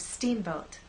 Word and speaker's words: Steamboat: say Steamboat I want the first part to be loud and the second part to be softer let's try that Steamboat